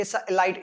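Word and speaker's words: elite: एन एलाइट club, एक club group की बात हो रही है कि एलाइट, एलाइट का मतलब सर्वश्रेष्ठ, सर्वोत्कृष्ट, मतलब विशेष, विशिष्ट उसको बोलते हैं। एलिट वैसे इलिट बोलते हैं इसको, ठीक है, प्रोनाउंसिएशन में।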